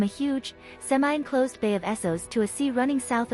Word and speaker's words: Essos: According to the TV series official pronunciation guide developed for the cast and crew, Essos is pronounced Essos.